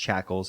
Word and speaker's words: Shakles: their name is pronounced shackles it's like the English word shackles without the C uh so hopefully I